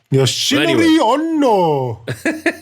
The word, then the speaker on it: Yoshinori Ono: Yoshinori Ono, is that right? Yoshinori. Fuck, without the Japanese accent. Yoshinori Ono. No, I said it right, though. Yoshinori Ono. Yoshinori Ono.